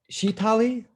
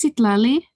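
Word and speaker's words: Citlali: morning and how okay is it sheetali um it's sitlali oh okay oh sit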